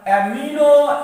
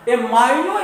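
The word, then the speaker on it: amino: एमिनो acid, कहीं कहीं पर इसका प्रोनाउंसिएशन जो है ना एमाइनो एसिड के नाम से भी कर दिया जाता है, लेकिन कोई बात नहीं, आप एमिनो पढ़ें तो पर भी ठीक, एमाइनो पढ़ें कोई दिक्कत नहीं, जो भी पढ़ना है पढ़ लीजिए।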